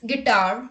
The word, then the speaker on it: guitar: look at the rule u is not pronounced when it comes after g and before a verbal let's look at the examples guess guidance guitar guest guild guard etc